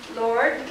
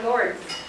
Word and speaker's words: Lourdes: It's either pronounced Lord or Lourdes.